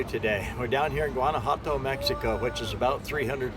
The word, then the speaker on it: Guanajuato: You know, come along with me down to Mexico, and it's actually pronounced Guanajuato, and it isn't pronounced anything like it looks. That's something that you have to learn about the Spanish language, you know.